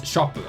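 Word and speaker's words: ショップ: Now notice you have a small tsu, okay? Notice, remember we had TSU, a small su. That kind of makes a T sound, essentially, okay?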